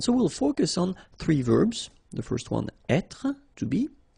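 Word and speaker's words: vert: Rouge remember rou so masculine form don't pronounce the final t ver feminine form ver so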